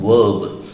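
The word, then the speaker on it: verb: और आजकल American impact, American effect देखने को आ रहा है, तो इसको कहते हैं वर्ब।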